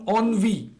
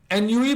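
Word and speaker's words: ennui: ये है अनवी ऑन ऑन व एन यूई मत पढ़ना ऑन व इसलिए मैंने इसकी प्रोनंसिएशन को यहां से नहीं हटाया ऑन व बोलते हैं इसको नवी नवी फ्रेंच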